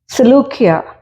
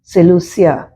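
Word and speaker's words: Seleucia: ഫോയിനീസിയ എന്ന് ഇംഗ്ലീഷിൽ വായിക്കുന്നുണ്ട് സെലൂക്കിയ എസ് ഇ എൽ യു സി ഐ എ സെലൂസിയ എന്ന് ഇംഗ്ലീഷിൽ ഇങ്ങനെ പല പേരുകളും മലയാളത്തിലുള്ള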